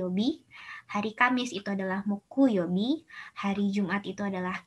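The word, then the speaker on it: 木: Ini dibacanya Moku.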